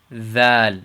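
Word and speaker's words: ذال: And the proper way to pronounce this is basically, if I give you an idea, it's the word in English if we say the, or this, or that, or those, or these.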